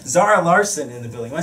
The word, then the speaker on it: Zara Larsson: Zara Larsson in the building.